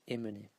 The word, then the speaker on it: emmener: So you say emmener, you don't say emmener.